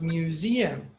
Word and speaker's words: museum: What about museum? Middle. The first. The middle. Middle. Yeah, because yeah, the E after the S. Museum. In English, that's how they say it. There's a stress in the middle.